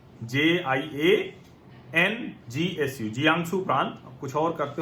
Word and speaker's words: Jiangsu: वहां का पूर्वी चीन का जियांगसू प्रांत है, JIANGSU, जियांगसू प्रांत। कुछ और करते हो तो आप लोग प्रोनाउंसिएशन देख लीजिएगा, मैं उसकी स्पेलिंग भी बता दूंगा।